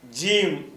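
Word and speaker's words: ج: அதுக்கப்புறம் ஐந்தாவது எழுத்து ஜீம் ஜீம் என்ற அந்த எழுத்துக்கு பேரு. ஜீம்னா ஜே டபள் எம் ஜீம் அத உச்சரிக்கிற முறை.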